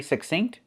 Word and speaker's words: succinct: When you see INC, we pronounce it just like when you see INK.